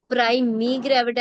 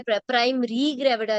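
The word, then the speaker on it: primigravida: Please अपनी pronunciations, polyhydramnios है वो पॉलीहाइड्रोएमनियोस है, प्राइमी ग्रेविटा है, प्राइमरी ग्रेविटा नहीं है वो, राइट।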